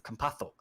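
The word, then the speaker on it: Campazzo: of his name because if we're going to do the spain pronunciation it's kampato say like a th it's not a z it's kampatho with the lift uh but faku he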